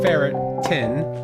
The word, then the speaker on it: ferritin: I thought wait um what the heck is ferritin pronounced ferret tin it is a protein